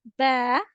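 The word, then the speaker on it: ب: And then the next letter is ba. Ba. Ba will be pronounced by the inner wet part of your two lips when it will be going to join. So you have to pronounce ba.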